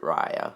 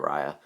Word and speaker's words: Raya: i'm gonna be honest i thought this was pronounced reya in the last dragon but then the teaser came out and she pronounced it raya so now i'm just gonna pronounce it raya um so yeah i'm gonna be honest i